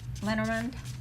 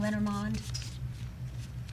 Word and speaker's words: Lenormand: Lenormand? I just said that wrong. Lenormand.